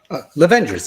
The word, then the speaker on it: Lovengers: pronouncing that correct lavengers lavengers yeah very yeah like The Avengers but with love Avers Avers um Midwife